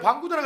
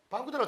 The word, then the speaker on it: 반구대: 근데 반구대라고 해야 되는데 방구대로 잘 안 하죠. 방구대로 읽히죠. 방구대죠.